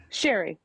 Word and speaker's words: Shari: Sherry. It's spelled like Shari, pronounced like Sherry.